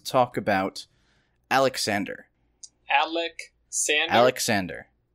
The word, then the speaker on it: Alexander: Alexander. That's how they say it in English. Yeah, I see how precisely you're pronouncing his name. Definitely not how the Greeks did, which was Alejandros.